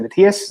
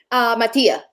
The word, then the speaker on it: Mattia: The artist name, is it Matthias? Am I saying it right? Is second. The photographer. I was speaking to him. Matthias, is that his name? Mattia, yes. Mattia, apologies, sorry.